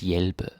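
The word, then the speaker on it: hjælpe: to help right at yelp it's important you pronounce it right so don't say and the h is not pronounced yelp the j you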